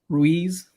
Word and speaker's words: Ruiz: even Joshua he might be able to beat Ruiz Ruiz am I saying it right yeah but I